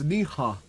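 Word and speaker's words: Neha: Yeah, it's Niha. N-E-H-A. It's Japanese for you. If you pronounce very fast, it does sound a bit like the N-word.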